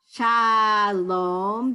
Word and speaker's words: Shalom: Shalom, the first syllable, sha, right, sha, in shalom, Shalom.